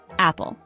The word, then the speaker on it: apple: It is a two-syllable word. Stress is on the first syllable. Say after me, apple.